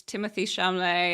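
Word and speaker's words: Timothée Chalamet: for it first before I commit uh it's Timothy shumlee and uh I'm probably mispronounced his name um perfect oh you got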